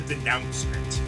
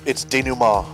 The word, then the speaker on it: denouement: I'm used to saying like, or thinking of it as being like the denouncement, but It's denouement.